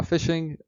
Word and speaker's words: phishing: to start with fishing now fishing although spelled with a ph is very similar to regular fishing it's when another party